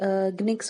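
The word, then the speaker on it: nginx: Then next जैसे ग्निक्स हो गया, GINX, राइट? जिसका N साइलेंट होता है.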